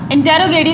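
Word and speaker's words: interrogative: यहाँ पर हम स्ट्रेस देंगे, थोड़ा सा उस वर्ड को जोर डालकर देकर बोलना है, जैसे कि इंट्रोगेटिव।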